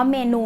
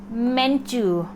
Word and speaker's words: menu: ออก เสียง ใหม่ เป็น menu menu menu นะ คะ อ่า ครู หมน เขียน ให้ เป็น ย ยักษ์ สระอู แล้ว กัน นะ ให้ มัน เหมือน ยู ู ย menu menu